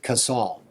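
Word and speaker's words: Kasal: And it's Sergeant Major Brad Castle. Some people pronounce it Casal.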